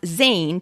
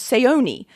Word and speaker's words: Zane: On the first day of college, the coach twisted my easy-to-pronounce Zane to an impossible-to-recognize Seoni.